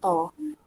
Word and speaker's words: ta: Dengan akhiran ini ta, tapi bacanya to.